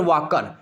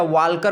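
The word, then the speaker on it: Walker: professor वार्कर या professor वाकर professor वाकर कहते हैं ठीक है या वाल्कर बोल सकते हो लेकिन यल यहां पर साइलेंट होगा तो प्रोफेसर वाकर प्रोफेसर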